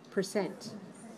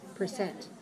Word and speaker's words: percent: the stress percent percent where's the stress there are two syllables am i stressing the first syllable or the second syllable percent percent two two right two two stress this second syllable it's two syllables please stress the second one percent percent and here's